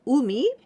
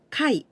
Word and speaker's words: 海: Instead of umi, we pronounce kai.